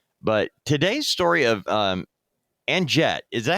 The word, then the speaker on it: Anjette: But today's story of um Anjette, is that how you pronounce her name?